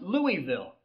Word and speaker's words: Louisville: It's pronounced Louisville."